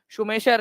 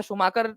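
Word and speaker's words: Schumacher: याद रखना है क्योंकि इसको शुमाकर और सुमेशर दोनों तरीके से किया जाता है।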